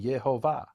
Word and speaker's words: Yehovah: But what they agree on is those vowels in Yud-He-Vav-He are the vowels of the name itself. And the one rabbi says, well, those vowels are for the world to come. When the Messiah reigns here on earth as a flesh and blood king, Jews will pronounce that name, Yehovah.